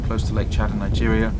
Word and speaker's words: Niger: Niger, and that is the correct pronunciation, I did check, continues to suffer significant humanitarian needs due to conflicts, displacement, food insecurity, child malnutrition, and epidemics.